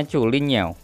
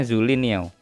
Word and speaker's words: Zhulinniao: Yang pertama di pojok kiri atas ini dibacanya Chulin Niao. Chulin Niao. Ini nama brandnya. Kalau di AliExpress ditulisnya Zulin Niao. Bacanya yang bener Chulin Niao. Aksennya juga harus kayak gitu, Chulin Niao.